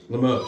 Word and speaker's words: Limoges: Is it pronounced Limoges? Limoges, that's what it is. Limoges, not Yadro?